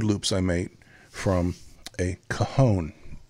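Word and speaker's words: cajón: some simple wood Loops I made from a kahone c AJ O N I don't think there e on it C AJ o n pronounced coone you may have heard the phrase about someone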